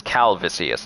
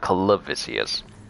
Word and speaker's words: Calvisius: shall manius clavicious and I already mispronounced his name is calvisius not calivacious messing up these names